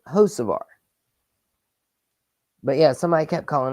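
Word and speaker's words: Hocevar: updates for CBS today they kept calling him ho varar ho varar and I ask you guys all the all the time about how to pronounce names but there is one thing I am sure of and that it's you pronounce Carson josar Carson josar but yeah somebody kept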